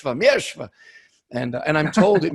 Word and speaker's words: Mierzwa: better than i do i don't really know how to say my name miershva is what old catholic nuns used to hit me with say yeshva and and i'm told